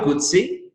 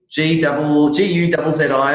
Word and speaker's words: Guzzi: And just so people know as well, so it's Guzzi, Guzzi, is that right? Yeah, no, you've got the pronunciation right.